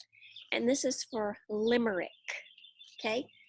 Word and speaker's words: limerick: L the L letter and this is for Limerick okay L I am er IC K so it's lime it's spelled lime Alaia me Ric Ric K but